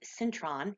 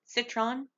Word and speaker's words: citron: to finish off with Cintron citron I never pronounce that word correctly it's the extra n that confuses me so I'm gonna put